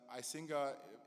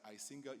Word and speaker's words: Icinga: but then it's like I Singa Singa Singa and honestly it's like singer you have to click